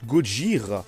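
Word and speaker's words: ゴジラ: D'ailleurs, Godzilla, au Japon, ça se prononce Gojira.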